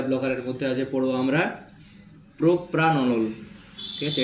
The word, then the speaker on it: propranolol: Beta beta ব্লকারের মধ্যে আছে পড়বো আমরা প্রোপ্রানলল। ঠিক আছে, এটা নট প্রোপানলল, এটা PRA আছে, তাই স্পেলিংটা ঠিকঠাক করে উচ্চারণ করবে। প্রোপ্রানলল, ঠিক আছে।